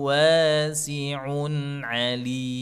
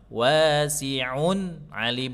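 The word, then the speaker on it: وَاسِعٌ عَلِيمٌ: Izhar cara bacanya adalah dengan cara dijelaskan sukunnya tapi tidak diputus. Nah, itu penting tuh. Tidak diputus. Kalau diputus nanti bacanya jadinya ee contohnya samiun alim itu putus enggak boleh. Tapi sa afwan wasiun alim. Putus ya. Tapi kalau nyambung wasiun alim. Jadi nun sukunya enggak putus.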